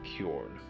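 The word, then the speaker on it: Kjorne: And I'm considering renaming Corn Talk to Corn, which is spelled KJ O R N E.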